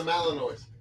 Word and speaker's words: Malinois: Oh, it's a Malinois. Okay. Malinois. So Rue, a Malinois, saved his neighbors, quote, by alerting his owners to a fire next door.